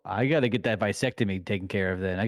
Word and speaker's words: vasectomy: Did you just say a fucking vasectomy? How are you supposed to say it? What do you mean? Vasectomy. It's not a vasectomy. It's vasectomy. Vasectomy.